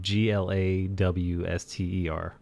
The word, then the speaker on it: Gloucester: You all just spelled it different ways phonetically. Gloucester. Then Glawster.